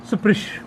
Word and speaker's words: स्पृश: कई लोग स्पृश बोलते हैं, लेकिन सकार का उच्चारण करना चाहिए, स्पृश बोलना चाहिए। स्पृश ऐसे बोलो तो अच्छा है, कई लोग स्पृश बोलते हैं।